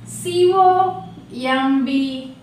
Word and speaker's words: comb: C-O-M-B, comb, not comb.